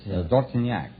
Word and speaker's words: Dortignac: Dortonak, huh? What kind of a name is that, Dortonak? Well, that's French. Oh, it is, huh? That's French. How would you pronounce it over there? In France, Dortignac.